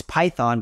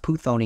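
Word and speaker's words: Πύθων: 16 a spirit of puthon which is really it's python but it's pronounced puthon in Greek and we it's just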